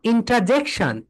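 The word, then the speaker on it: interjection: তুমি যদি এটাকে ব্রিটিশ প্রোনাউন্সিয়েশন করো, ব্রিটিশ প্রোনাউন্সিয়েশন করো, তাহলে হবে ইন্ট্রা বলো, ইন্টারজেকশন, ইন্টারজেকশন। ব্রিটিশরা এখানে আর এর প্রোনাউন্সিয়েশনটা করবে না। ব্রিটিশ প্রোনাউন্সিয়েশন যদি করো তাহলে হবে ইন্ট্রা বলো, ইন্ট্রা, ইন্ট্রাজেকশন। এখানে ইন্ট্রা হলো না কেন বলো তো? কারণ এর উপরে স্ট্রেস নেই, স্ট্রেস আছে জে এর উপরে।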